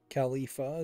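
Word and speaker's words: Khulfia: look like a bull Califa is how you pronounce her name they should have said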